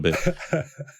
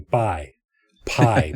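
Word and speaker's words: Pai: Uh this one is called White Guy in Pi Pi, but it's actually pronounced Bi, but you know the little town up in Mihong province that's gotten a lot of press lately, right?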